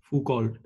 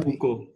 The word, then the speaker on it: Foucault: Foucault. फिर से बोलना. Foucault. Or actually, wait, it's a French guy, no? हो गया ना. Foucault.